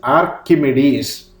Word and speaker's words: Archimedes: a greek mathematician pronunciation the name will be pronounced like this archimedes a greek mathematician who lived twenty two hundred